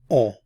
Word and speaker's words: on: is the subject pronoun on. Again, remember the N isn't pronounced, on.